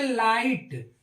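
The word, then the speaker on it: light: जीटी इसको हम पढ़ते लाइट लाइट जी एच क्या है इसका उच्चारण नहीं आ रहा है ऐसे ही टी एच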